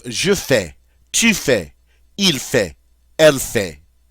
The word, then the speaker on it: fait: fais, tu fais, il fait, elle fait. Did you notice that all of those are pronounced exactly the same?